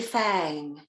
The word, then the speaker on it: Fang: On the phone, when she'd identified herself, she pronounced her last name like the tooth. Ava, is that you? It's Winnie Fang.